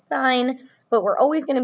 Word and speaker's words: sin: math problems as siin we don't pronounce it sin we're still pronouncing it as sign but we're always going